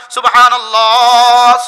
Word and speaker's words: সুবহানাল্লাহ: শেষে একটা হা আছে হা। হাটা বাতাসে ছেড়ে দিতে হয়। হা বাতাসে ছেড়ে না দিলে উচ্চারণ এটা আলিফ হয়ে যায়। যেমন আমি বললাম সুবহানাল্লাহ, সুবহানাল্লাহ, সুবহানাল্লাহ।